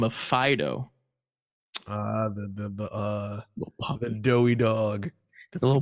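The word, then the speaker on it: Fidough: dog in the name can you guess how the name is spelled yes d-o-u-g-h yeah phido getting it because it's a dog but also like cake um there's also a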